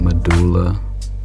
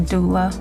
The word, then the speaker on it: doula: You said medulla. That's how you say it? Or was it a doula? A doula.